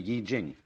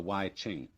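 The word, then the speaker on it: I Ching: the book of changes called the Y Jing not the Y Ching I'm afraid that the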